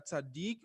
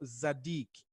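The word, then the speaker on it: צדיק: Nós podemos pronunciar tzadik ou zadik, não é?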